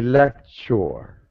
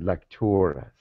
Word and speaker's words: Lectores: You say lecture. Okay. We pronounce it Lectores.